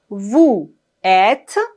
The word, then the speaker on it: vous êtes: Ici, on fait la liaison entre le S et le E accent circonflexe. Vous êtes. Vous êtes.